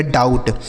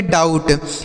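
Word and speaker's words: doubt: बी का उच्चारण यहां नहीं होगा। टी से ट हो जाएगा। लिखा गया डाउट। ठीक है? इसे पढ़ेंगे डाउट।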